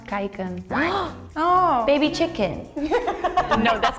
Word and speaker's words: kijken: It's pronounced kijken.